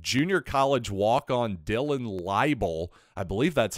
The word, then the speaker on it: Laible: game is that Junior College walk on Dylan libel I believe that's how you pronounce his last name l-a-i-b-l-e well apparently he